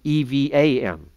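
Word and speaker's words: Even-Shoshan: It's not Evan, E-V-A-N. Okay? It's Evan in the sense of the Hebrew meaning stone. Aleph, Beth, Nun.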